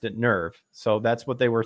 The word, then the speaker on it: NERV: people are like, it's technically supposed to be pronounced "narf" like that or something like that. And I'm just like, well, the Japanese pronounced it "nerve," so that's what they were thinking of when